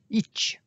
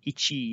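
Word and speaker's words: いち: like an exclamation mark, placing emphasis on the ch rather than the I that you might pronounce in English if you had an itchy hand.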